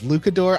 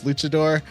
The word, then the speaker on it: luchador: fun of me cuz I mispronounced Luchador I as lucor I don't know why I know how to pronounce Luchador but I just you know sometimes when you're reading something you just say my brain especially says it wrong and uh uh but